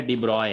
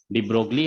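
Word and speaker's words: de Broglie: इसको पढ़ा जाता है डिब्रॉय, हम पहले भी आप लोग को बता चुके हैं, ठीक है ना। डी ब्रोगली हम लोग लिखते हैं, बट वी इट is actually pronounced as डिब्रॉय, ठीक है ना।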